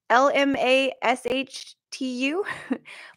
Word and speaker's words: Lamashtu: It's Lamastu, Lamashtu.